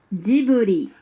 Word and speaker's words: Ghibli: véritable des studios Ghibli, enfin plutôt des studios, Djibouti. parce que ça se prononce comme ça en japonais, ça il faut le savoir, hein.